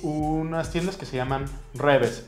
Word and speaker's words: REWE: Hay unas tiendas que se llaman Reves. Se escriben Rewe con W, pero los Reves son tiendas de conveniencia, supermercados, en los que uno puede comprar comida ya preparada.